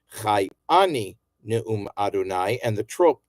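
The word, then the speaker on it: אני: We're used to saying ani in modern Hebrew, but this is properly pronounced chai ani Ne'um Adonai, and the trope tells you that.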